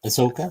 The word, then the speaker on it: Ahsoka: How do you pronounce her name? Ahsoka.